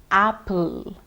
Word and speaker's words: apple: You may see two P's in a word, but please don't pronounce them twice. It's not apple. It's not happy. It will be apple or happy. So you must enunciate the p sound only once and never double it.